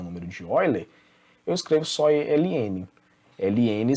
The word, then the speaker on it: Euler: Se escreve Euler, mas como é alemão ali, não tenho certeza se é alemão, né? Mas a gente faz a leitura como Euler.